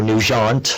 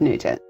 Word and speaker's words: Nugent: And Nugent is kind of French too, Nugent. I'm not going to ask you if you're related to Ted Nugent.